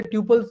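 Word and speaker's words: tuple: इसे ट्यूपल्स भी बोला जाता है, हाँ, ठीक है, ट्यूपल डेटा टाइप, बट हम टपल बोलेंगे, ठीक है। वो अलग अलग प्रोनाउंसिएशन है, कोई डाउट तो नहीं?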